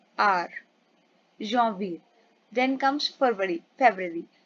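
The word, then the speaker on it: janvier: French पे हम बोलते हैं जवीर। एंड हम कैसे लिखते हैं? जे एन वी आई ई आर जवीर।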